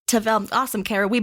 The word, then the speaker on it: Tavel: And can you pronounce the name of the region again for us? Oh, Tavel. Tavel.